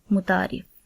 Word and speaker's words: متعارف: لفظ ہمارے پاس ہے متعارف۔ میم کے اوپر پیش، تے کے اوپر زبر، عین کے اوپر زبر، رے کے نیچے زیر اور فے کے اوپر جزم آئے گی، اور اس کا صحیح